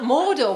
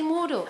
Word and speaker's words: Mordor: up it's spelt mordor why not just say mortal and it's like this